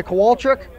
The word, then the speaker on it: Kowalczyk: Now this is, I've seen this spelled a couple different ways today. So is it right? Am I Kowalczyk?